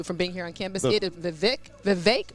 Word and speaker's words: Vivek: And we learned also, too, from being here on campus, Vivek rhymes with cake.